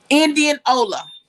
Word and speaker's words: Indianola: an indian name ola so they just put it together indianola indian ola but it's pronounced indianola yeah so yeah that's